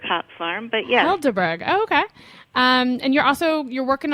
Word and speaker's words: Helderberg: So Laura and her husband, you guys are hop farmers at Heidelberg Hop Farm in upstate New York. It's actually pronounced Helderberg Hop Farm, but yes. Helderberg.